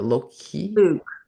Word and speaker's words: Louque: Loki? Luke, who operated a popular Nashville music venue. Louque, and it's French, so it's Luke.